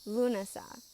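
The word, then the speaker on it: Lúnasa: month of August is lunasa this is actually spelled a little different than how we spell this holiday but it seems to be pronounced about the same the ancient people would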